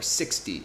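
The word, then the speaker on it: sixty: say like 50 or 60 or 70 remember the Ty take that part and turn it into a d y if you do that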